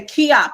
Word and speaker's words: Keyopp: say it wrong but i say key up am i right that's correct okay i read your